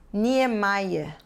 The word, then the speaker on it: Niemeyer: nós vemos assim bismayer da mesma forma que lemos o nome do arquiteto famoso Oscar Niemeyer e se diz Niemeyer são nomes estrangeiros cada